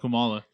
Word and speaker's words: Kamala: So Hillary, how do you feel about Kamala?